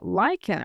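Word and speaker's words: Lycaon: Um the linguistic origins of that is uh from the Greek legend of King Lyen or it's and it's spelled like L Y C AO N.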